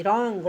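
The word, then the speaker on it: wrong: डब्ल्यू रहेगा आर से पहले डब्ल्यू रहेगा तो साइलेंट रहेगा एग्जांपल में है डब्ल्यू आर ओ एन जी रॉन्ग रॉन्ग means गलत डब्ल्यू आर A double P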